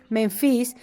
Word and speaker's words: Menfis: Este es interesante porque esta capital de Memphis, o este lugar de Memphis, ¿cómo se dice? Menfis, era un lugar de